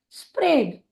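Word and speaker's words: spread: SP का उच्चारण होता है स्प, और RA हो जाएगा रे। DE, क्योंकि ये शब्द ई से समाप्त हो रहा है तो उसके पहले आने वाले स्वर का नाम लेंगे। उसके पहले जो स्वर आया है वह है ए, इसीलिए वह SPRAD हो जाएगा स्प्रेड, स्प्रेड। हमारा अगला शब्द है STRUCK।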